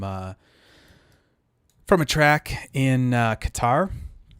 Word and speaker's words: Qatar: from a track in qatar or cutter i believe is how you say it um and it would